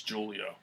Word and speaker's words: Julio: D'Angelo Julio Allen Robinson it's giulio giulio Jones I think I can help with the whole Julio Julio's tuition the J is silent Jordan breve actually might